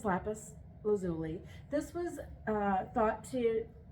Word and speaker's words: lapis lazuli: so lapis lazuli uh it's pronounced a couple different ways that's the way I'm going to pronounce it I used to actually pronounce it a more fun way that I knew was wrong um but I will spare you that so this is lapus lazuli this was uh thought